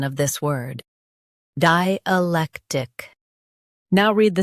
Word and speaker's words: dialectic: Di, lek, tick, dialectic. Emphasize lek and keep di and tick smooth.